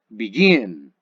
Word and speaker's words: begin: Tenemos el verbo begin, begin. Nótese que la parte fuerte de la acentuación se escucha en la última consonante, perdón, en la última sílaba.